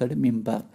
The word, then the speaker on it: minbar: Two, a pulpit or minbar, pronounced mimbar, from where sermons were delivered during noon prayers on Friday.